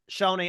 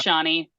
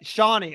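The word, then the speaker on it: Shonee: saying her name wrong is it Shoney right or is it Shawnee no no you said Shawnee Mike I think it's Shawnee I think it's Shawnee Shawnee I keep saying Shoney but Shawnee okay so George is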